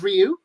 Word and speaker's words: Ryu: ruin that for you yeah the the actual pronunciation is Ryu however the script for the 9 movie specified